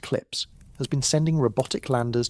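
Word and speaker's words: CLPS: NASA's commercial lunar payload services program, known by its abbreviation, which is pronounced clips, has been sending robotic landers to the lunar surface.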